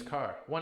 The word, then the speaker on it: caro: Expensive is not the same as car. One R. Caro. Caro.